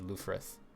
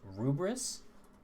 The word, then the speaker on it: Lfrith: Apparently in Japan it's pronounced Rubris, which I technically prefer, but I don't really know if that's the right way to say it.